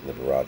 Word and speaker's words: Liberace: It's spelled like Liberace. It's Liberace.